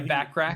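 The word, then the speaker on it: Bachrach: And I can't remember his name, Moss Barak. Is that how you say his name? Yeah, Backrack.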